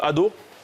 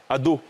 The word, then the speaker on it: ado: C'est là où on met l'accent tonique. Hein. Voilà. Ado. L'accent tonique est ado. C'est sur le A.